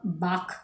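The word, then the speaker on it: balk: इसके लिए जो है एक वर्ड होता है बाक बी ए एल के बाख कह सकते हो आप इसके लिए इसमें एल साइलेंट होता है शेफ कह सकते हैं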